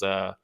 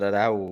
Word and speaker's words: Araujo: But the big one that I was looking forward to was the Alexa Grasso versus Arujao. I don't remember how to say her name. Araujo.